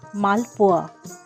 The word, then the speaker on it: Malpua: We Bengalis pronounce this as Malpua.